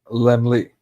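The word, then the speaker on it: Laemmle: um okay so founded by Carr this is pronounced lmly and from what I read That's supposed to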